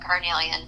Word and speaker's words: carnelian: Carnelian, I hope I pronounced that right.